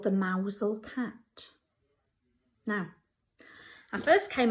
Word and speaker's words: Mousehole: You actually pronounce it Mousehole.